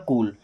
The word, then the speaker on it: cool: अब अगर कहीं पर डबल ओ आता है, क्या डबल ओ आता है, तो वहां पर हम बड़ा ऊ का उच्चारण करते हैं। ओके, जैसे COOL, तो सी को पढ़ते हैं क में बड़ा ऊ की मात्रा, और एल से ला, ये हो जाएगा कूल।